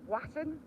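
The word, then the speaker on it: Walton: place called walon right it's spelled w a l t o n so it's kind of that little bit there little tiny Hamlet but the locals call it Waton why I don't know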